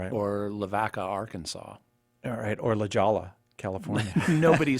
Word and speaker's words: La Jolla: for anyone who's wondering it's La Jolla not La Jolla it looks like La Jolla eight eight eight three